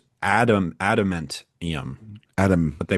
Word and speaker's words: adamantium: The word is a pseudo-Latin pronunciation based on the English noun and adjective adamant. Okay. Added to the Neo-Latin suffix ium. All right. So it's adamantium.